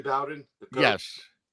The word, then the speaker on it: Bowden: So down south, it's pronounced Bowden. Like okay. Bobby Bowden.